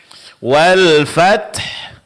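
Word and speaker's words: الْفَتْح: Wal fath. Fath. Nah, ingat huruf ta di sini jangan sampai mirip dengan qalqalah ya. Pertahankan sifat syiddahnya. Suara tertahan.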